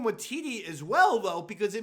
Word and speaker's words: Waititi: Taika Waititi. Watiti?